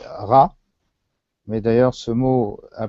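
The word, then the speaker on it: רע: Le mot mal en hébreu se dit ra, mais d'ailleurs ce mot a plus à voir avec le malheur qu'au mal en tant que notion morale.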